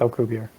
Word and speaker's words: Alcubierre: I've heard Alcubierre, I've heard Alcubierre, but I'm pretty sure it's Alcubierre.